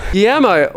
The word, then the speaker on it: Guillermo: Guillermo, I hear that word and I go, oh, that's that word. That name! I hear that name and I go, that's the one that's spelled with L's and a U and an I. Because it's spelled Guillermo.